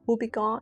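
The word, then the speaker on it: Houbigant: by the house of Hubiggon. I think you don't pronounce the the T at the end.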